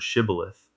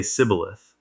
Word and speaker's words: shibboleth: To catch the escaping Ephraimites, they make everyone say the word shibboleth. The Ephraimites couldn't pronounce the sh sound. They'd say sibboleth.